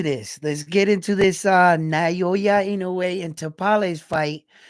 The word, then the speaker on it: Naoya Inoue: It's pronounced Naoya Inoue. Inoue. Naoya. Naoya Inoue.